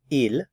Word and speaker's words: ils: a group of females notice I don't pronounce the S here IL and I don't pronounce